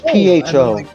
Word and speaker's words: pho: understand what the hell is fo is that mean fake i mean no it's pho right it's spelled pho and um imagine um